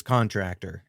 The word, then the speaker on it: Contractor: And yep, I I really did look up the pronunciation and it is Contractor.